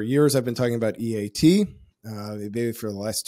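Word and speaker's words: E-E-A-T: I believe the proper pronunciation is EAT.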